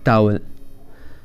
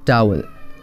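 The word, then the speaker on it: towel: Next is टावल। This is टावल। तो लोग क्या बोलते हैं? टॉवेल, जो कि गलत प्रोनाउंसिएशन है। Next correct is टावल, टाओएल, टावल।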